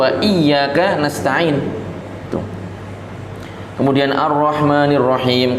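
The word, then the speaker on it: الرَّحْمٰنِ الرَّحِيْمِ: Kemudian Ar-Rahmanir-Rahim. Kadang orang bacanya Ar-Rahmanir-Rahim, Ar-Rahmanir-Rahim. Nah, ini berarti tasdidnya tidak disebutkan.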